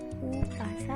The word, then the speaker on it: umpasa: Nah, di sini itu kan tulisannya umpasa, tapi dibacanya upasa ya.